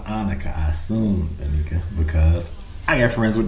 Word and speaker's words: Anika: Anika is A-N-I-K-A.